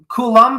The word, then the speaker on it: Coulomb: Coulombe? How do you pronounce it? Oh, it's Coulomb.